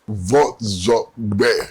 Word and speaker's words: Vordzorgbe: Vordzorgbe. Yes, 3 syllables.